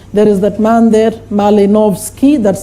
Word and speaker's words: Malinowski: There is that man there, Malinowski, that's how you pronounce.